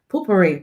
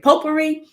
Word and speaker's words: potpourri: created this year called potpourri Poo-Pourri potpourri I've always pronounced it wrong right and so those